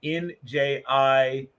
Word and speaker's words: Njigba: Then Smith is Smith, and then hyphen Njigba. So N like November, I like India, J like Juliet, G like golf, B like Bravo, A like Alpha.